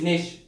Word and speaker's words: niche: It will not be niche, it will not be niche, it is niche.